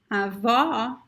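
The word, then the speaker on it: avó: closed o closed oh we have the word avo which means grandfather ava means grandmother avo grandfather okay so the only difference in pronunciation in these words is the open or the closed eye okay then we have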